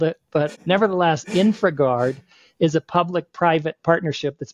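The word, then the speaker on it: InfraGard: has a program called InfraGuard, and it's infra like infrastructure, I-N-F-R-A, and then guard is spelled G-A-R-D.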